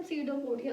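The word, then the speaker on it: pseudopodia: Student please, इसके अंदर जो पी है वो साइलेंट है. क्या बोलते हैं उसे हम? सीडोपोडिया.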